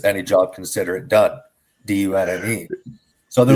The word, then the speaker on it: Dunne: So for anybody that's listening, Tom's last name is spelled D-U-N-N-E.